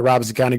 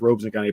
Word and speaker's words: Robeson: I called it Robeson County growing up, but it's pronounced Robeson County apparently.